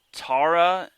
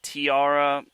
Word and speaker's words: Tiara: thayer hall and unfortunately i called her tara instead of tiara i didn't know that's how it's pronounced but that's my bad